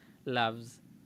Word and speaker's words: loves: he She it tenemos esa s extra que en este caso se pronuncia como una como una Z loves pero es la única